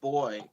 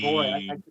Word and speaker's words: buoy: over this uh poppy boy boy boy I'm saying boy like yeah like like a like a small boy or something wow I